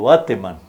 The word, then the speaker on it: Bateman: Bateman le dicen otros porque suena como gringo el apellido, pero la gente del pueblo lo pronunciaba tal cual como aparece escrito, Bateman.